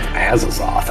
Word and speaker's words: Azathoth: You want me to spell that for you? I'm assuming Azazoth. That's right. Prophecy of Azathoth.